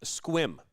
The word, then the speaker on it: Sequim: It's pronounced squim. I guess that's how you pronounce it.